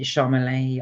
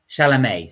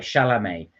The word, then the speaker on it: Chalamet: say it I think I think it's Timothy is it charmelee I can't pronounce his name anyway he he will be playing it uh chalamet sorry chalamet so he will be